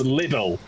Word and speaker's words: Lidl: the grocery store again Lidl oh God little what it's little it's not a little grocery store it's noodles grocery store name is pronounced little the name of the